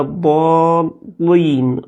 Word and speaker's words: الضالين: ولا الضالين، ما فيش ترقيق للام، فبيقرأ ولا الضالين، واللام برضو في الآخر لين تنطق، ولا الضالين، لين بتفخيم اللام وليس بترقيق اللام. يقرأها خطأ فيقول ولا الضالين بتفخيم اللام.